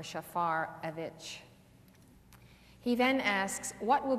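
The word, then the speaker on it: Shafarevich: It's like Schaefer or Shafarovich.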